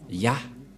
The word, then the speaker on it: Yah: Et ça se prononce, selon les Juifs, le premier terme que je vais mettre en bas, sa prononciation se lit I et l'autre se lit AH. Je vais expliquer simplement. Et lorsque on va regrouper à la normale, ça se transforme en Ya, que nous allons écrire ici, Ya.